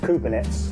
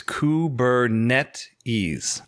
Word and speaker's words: Kubernetes: messes this stuff up but it is the official pronunciation apparently is kubernetes i actually had ah